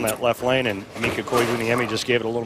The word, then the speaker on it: Koivuniemi: I like the way his name is spelled on the back of his shirt phonetically with all the dashes in. Mika Koivuniemi. At least we've been pronouncing it correctly all these years.